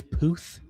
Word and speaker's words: Puth: Uh, Charlie Puth Puth. Charlie. I have no idea who that is. Yeah. Believe that it's Puth. Like a booth.